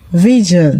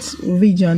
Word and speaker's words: vision: The S in vision is pronounced J.